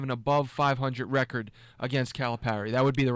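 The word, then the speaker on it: Calipari: coaches to have an above 500 record against calip Parry that would be the right way to say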